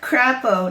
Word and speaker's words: Crapo: Mike Crapo. Nice name. And literally, that's how you say it.